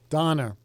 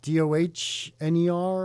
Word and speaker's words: Donner: Donner. Wait, how do you spell that? Yeah, go ahead, Steve. Did you say it? What'd you say? Say it. Was it DOHNER or something? No. Is it? DONNER.